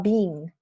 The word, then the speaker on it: being: uh the letters are being delivered yeah you need to be very careful with the pronunciation are being not B Because B is the participle yeah so are being